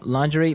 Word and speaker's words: lingerie: sexy underwear yeah yeah now the spelling of this word is interesting isn't it yeah it's spelled l i n g e r i e e lingerie lerie yes don't you love English spellings so women's nice pretty